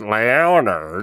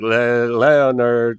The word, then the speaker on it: Leonard: Spoke good English, but like was unfamiliar with the name Leonard. And he's like, it's not Leonard, it's Leonard. And she's like, Leonard. And he's like, you don't pronounce the O, it's Leonard.